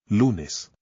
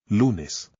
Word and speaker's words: Lunes: Lunes. The stress goes on the second to last syllable because the word ends in a vowel, N, or S, and there is no accent. Lunes.